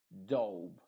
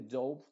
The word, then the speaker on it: dove: Phone, stone, cone, home, alone, rope, hope, dove. Y este dove no es lo mismo que el dove. Dove significa paloma y dove es el pasado del verbo dive.